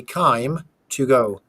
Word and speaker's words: Kime: Basically, it's time with a K. So you say Kime to go.